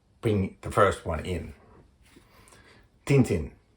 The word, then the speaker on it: Tintin: Tintin, or I think as the right pronouncing is something like Tatan. That is actually the right pronouncing. I didn't mess that. Tantan. That is the way that all the pronunciations after this will be measured. Tantan. But everybody else is Tintin.